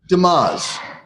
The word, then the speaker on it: Demaz: Demaz. Okay. It looks like it looks.